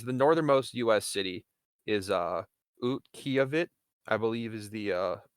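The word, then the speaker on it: Utqiaġvik: city is Utqiagvik, I believe is the pronunciation, formerly known Hmm.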